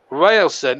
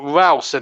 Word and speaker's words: Ralston: It was a challenge there by number 56, Railson, who just went flying in there. In fact, Ralston is his name. His correct pronunciation, not Railson. It's W-A-L, not W-A-I-L.